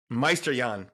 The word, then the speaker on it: Meisterjahn: Meisterjahn. It's German, man. Most struggle with the pronunciation. But I'm German and ancestry, but my name's not. It's easier than that. But say that again. So Meisterjahn.